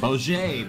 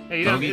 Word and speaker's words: Bogey: Boj, baby. got a donut on his screen. That's how he's hitting all the head shots. Yeah. Every No. Every golf bogey doesn't turn bogey.